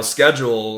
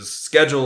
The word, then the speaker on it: schedule: Now, schedule, according to U.S. English, schedule is correct pronunciation, but schedule. If you've been to the U.K. or even seen like the British on TV, they will say schedule.